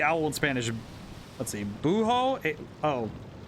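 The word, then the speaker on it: búho: Buho. H is silent in Spanish. Buo, tecolote, and lechuza.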